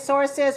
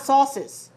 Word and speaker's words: sources: syllables sources sources sources now be careful of that s because it is obvious if you have an other another syllable one source many sources it has two syllables one syllable and two syllables you should be able to feel and hear perceive that one extra syllable is added when you make the plural sources um be careful not sauces what's the difference in